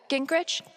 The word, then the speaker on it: Gingrich: steph uh gingrich is that how you say it yeah that's